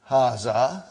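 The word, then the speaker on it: هذا: Haza see it is pronounced like ha. Huh? But this al if is not written. Huh? It is explained in the key also.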